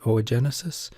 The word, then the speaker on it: oogenesis: Okay, so we'll talk about oogenesis, pronounced O-gen-e, like egg, cis, oogenesis, we'll be talking about.